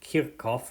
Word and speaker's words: Kirchhoff: call Kirchhoff's rules or I think technically his name is pronounced cute golf or something but we're Americans so we're gonna butcher his name and in particular we